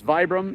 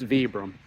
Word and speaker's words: Vibram: Everybody says Vibram, it's Vibram. That's from the owner. He says he doesn't care how you say it as long as you buy the products.